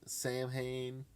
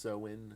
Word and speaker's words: Samhain: danzig of the misfits samhain i think it's actually pronounced so in or something saying hank sam hayne and danzig father tell